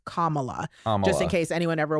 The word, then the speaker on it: Kamala: wants to know it's comma la like comma like the punctuation Dash LA commala and anyone who